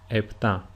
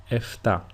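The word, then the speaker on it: επτά: EPA is usually pronounced in two different ways. The first one is with a P sound like I pronounced it, EPA. And the second way is with an F sound or a F if you are in if you are Greek. That is FA.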